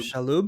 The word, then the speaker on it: Shalhoub: Um, Yeah, when Tony how do you pronounce his last name? Shalhoub.